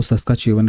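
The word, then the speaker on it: Saskatchewan: ठीक है, यहाँ पे टी साइलेंट रहता है तो इसको सस्काचेवन रिवर कहते हैं।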